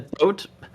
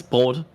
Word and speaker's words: Brot: I think a Broat. I mean, that's just bread in German. Oh, cool. Say it with basically me, chat. Broat. Broat. It's Brot, actually, but yeah.